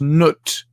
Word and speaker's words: Nut: usually represented by the goddess nut spelled like nut and uh the two